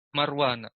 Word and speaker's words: Marwana: Huwa Umar bin Abdil Aziz bin Marwana. Marwan dibaca Marwana karena ismul adil yang surif, majurnya dengan fathah.